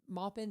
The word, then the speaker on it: Maupin: She is the Maupin. Did I say it right? You said it right.